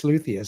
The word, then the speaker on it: luthier: pronouncing it wrong so I checked it I have been it's it's luia so and Ryan from